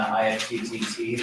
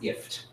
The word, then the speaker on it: IFTTT: I think it's pronounced ift. I think you're supposed to say that's what I have heard people say, is that it's ift.